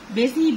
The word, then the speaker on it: busy: لما نقول النحلة النشيطة busy bee، حرف الاس بينطق زد.